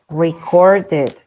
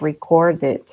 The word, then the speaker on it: recorded: Recorded, because the lat sound is D, right? Recorded.